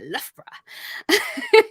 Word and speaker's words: Loughborough: Loughborough? You did. It's really fun to say, Loughborough.